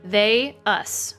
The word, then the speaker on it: Theus: Mostly she follows around Theus, right? Is that how I pronounce Theus. Theus. Like Theus. they, us. They, us.